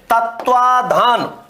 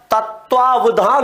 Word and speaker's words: तत्वावधान: अशुद्धि हो जाती है तो तत्वाधान नहीं होता तत्वावधान होता है तत्व धन अवधान और